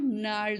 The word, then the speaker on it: gnarled: This disease is called gnarled as well. G is silent.